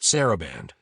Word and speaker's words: Saraband: Nathaniel tried to say it. It's pronounced Saraband.